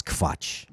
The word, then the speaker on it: Quatsch: Quetsch is not actually a German term. It's Quatsch. It's an A.